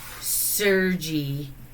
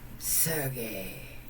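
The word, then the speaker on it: Sergei: Chels would call him sergy but it's pronounced surgey so yeah uh we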